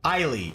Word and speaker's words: Eiley: Do they pronounce the S, or is it like Isla where the S is silent? Ivana B. Crofton. Very good. Okay. Excellent. Okay, so what we're gonna do, Eiley.